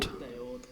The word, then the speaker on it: Daord: Is it pronounced Daord? Daord.